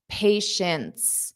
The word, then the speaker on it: patience: So notice this T at the end is not pronounced. But neither is the first T. Okay, so let's review this one word. Patience. So it's a sh sound. Shints, shints, shints.